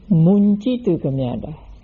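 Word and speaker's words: muñcitukamyatā: So the first is pronounced Muccitu Kamyata, and the second is pronounced Muncitu Kamyata.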